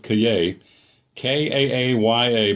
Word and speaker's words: Kaaya: more college football note I've heard to pronounce Kaaya and Cay Brad Kaaya I'm going to go with Cay Ka a a ya